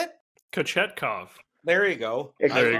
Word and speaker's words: Kochetkov: Kochetkov. Yes. How do you say it? Kochetkov.